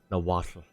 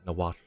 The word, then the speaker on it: Nahuatl: Would be pronounced Nahuatl. Or, like, Nahuatl.